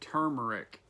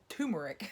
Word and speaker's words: turmeric: Oh, and turmeric is actually how it's pronounced. It is not turmeric. Which is, yeah. I mean, if you look at the way it's spelled, it's actually not turmeric. I understand why people say that it's easier. It has an R in it. Yeah, and they miss the R. But 2 of them.